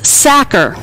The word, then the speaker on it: Sachar: The author is Sachar. It rhymes with cracker.